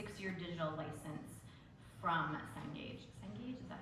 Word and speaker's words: Cengage: Cengage, is that how you say it?